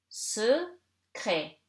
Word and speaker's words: secret: Secret. Here you have CR, two consonant, and in the middle of the word, so you read it like E.